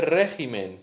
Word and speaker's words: régimen: Eh, entonces se dice especimen, pero se dice especímenes. Se dice régimen, pero se dice regímenes. Se dice carácter, pero se dice caracteres.